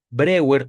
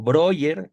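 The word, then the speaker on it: Breuer: practica la hipnosis con Brewer o Broer, como gusten pronunciarlo, es la misma persona. Joseph Brewer o Joseph Broyer es la misma persona, diferente pronunciación y se da cuenta Freud que él es un hipnotizador.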